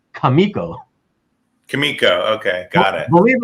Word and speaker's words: Comico: The publisher's name is actually supposed to be pronounced Kamiko. Kamiko, okay, got it. Believe it or not, I always said Comico, and then I found out several years ago that it was Kamiko.